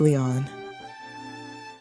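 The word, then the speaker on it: Lion: the heck are you it's written as japanese but pronounced lyon i guess it's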